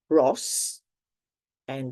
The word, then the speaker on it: rossa: So the sound S is when you have double S, which you can only have between 2 vowels. You pronounce it scassa. Another example is rossa, the color, for example.